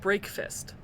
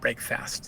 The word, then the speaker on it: Break Fist: electric Punk SCA and it is pronounced break fist I believe so break fist not break fast yes yes okay cuz